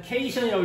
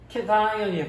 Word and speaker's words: cation: 처음 볼 때는 케이션이라고 읽었었는데 케이션이 아니고 캣아이온이에요.